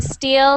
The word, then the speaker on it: steel: steel steel and still so steel um with the the two first ones you wrote there in the chat are both the same sound steel steel then there's still so we have e i e i e so we have steel and still okay good uh thank you